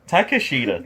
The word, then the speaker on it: Takeshita: Takeshita, thank you.